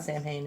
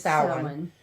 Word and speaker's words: Samhain: It's just it's not Samhain. It's Samhain. Is how it's pronounced.